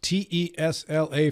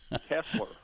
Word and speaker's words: Tesla: Consumer yes with your rate increases Phil please pronounce te S L A for me how do you pronounce it tesler Tesla thank you you said it I've been